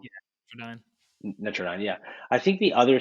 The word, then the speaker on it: Netradyne: I mispronounced them before, but was that what they were called? Yeah, Nine. Netrodyne, yeah.